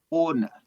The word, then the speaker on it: honor: Next one, honor. Honor. Yes. H is silent.